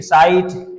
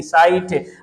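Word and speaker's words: site: साइट एस आई टी साइ नहीं साइट आप साइट की स्पेलिंग तो यहां पर लास्ट में साइट एस आई टी टी पढ़ है ना टी का साउंड पढा है साइट साइट तो यहां पर साइलेंट होती है अब यहां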